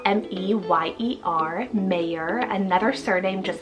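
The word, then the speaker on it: Meyer: Next up, we have Mayer, spelled M-E-Y-E-R, Mayer, another surname just like Iverson, but a little different with that E-R ending, which is also another trendy ending.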